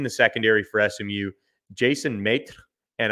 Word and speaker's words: Maitre: SMU, Jason Maitre, and I'm only saying it that way because it's spelled M-A-I-T-R-E. So it's Maitre without the D. So that is how I'm going to pronounce his name until I'm told otherwise.